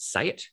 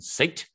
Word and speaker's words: SEAT: was a brand called say it in Australia It Was Written seat uh that's not how you say it you say it say it um and Cooper was